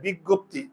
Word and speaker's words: বিজ্ঞপ্তি: উচ্চারণ আছে কিন্তু আমি যখন উচ্চারণ করতে যাই বিজ্ঞপ্তি আসলে এর উচ্চারণটা কি হয় আমি যদি সিঙ্গেল ভাবে বলি